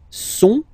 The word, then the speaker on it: sont: Okay, ils sont, final T not pronounced.